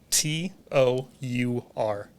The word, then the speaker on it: tour: Since you are a musician, and this has been a point of hot debate on this podcast, how do you pronounce the word T-O-U-R?